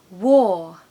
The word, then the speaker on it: war: English Country Cottage fingers crossed number three war war not a very nice word I'm sure you'll